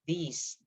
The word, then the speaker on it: these: So that's the difference between and with this one, it tends to be shorter, this, but this one is longer. These, this, these, this, these.